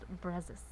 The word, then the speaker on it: Brazos: But that's an O. I know, but it's pronounced Brazos. Well, then they should have used a U.